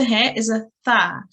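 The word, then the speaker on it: ث: it's pronounced is um we put our tongue at the tip of our teeth and slight air passes through our mouth and we just say Tha yeah so it's not a star which often gets confused with it's a Tha yeah well done that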